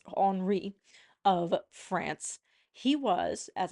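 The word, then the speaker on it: Henri: second or I believe as it is pronounced in France HRI of France he was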